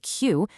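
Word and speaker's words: queue: You literally just say the letter Q. The next four letters are perfectly silent, just sort of waiting in line.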